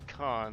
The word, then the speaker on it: Khan: Yeah, it's not Kane, it's Khan.